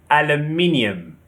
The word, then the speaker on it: aluminium: In British, we say aluminium. Aluminium. The stress is on the second syllable. However, Americans say aluminum. Aluminum. The stress is on the third syllable, aluminum. So we have aluminium and aluminum.